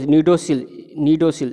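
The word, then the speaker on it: cnidocil: जैसे ही mechanical pressure इसके ऊपर पड़ता है, मैकेनिकल स्ट्रेस इसके ऊपर पड़ता है, और ये इसको नीडोसिल सी साइलेंट होता है, नीडोसिल जैसे ही वो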